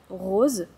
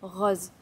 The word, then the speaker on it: rose: Par exemple, à Toulouse, on ne dit pas "rose" pour la couleur, mais on va dire plutôt "rose". C'est un "o" qui est plus ouvert : rose.